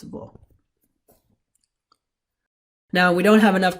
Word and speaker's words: वह: Now remember, although it's spelled vaha, it's pronounced vo.